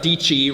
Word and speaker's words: Dietschy: All right, I am here with Sara Dietschy, rhymes with Peachy.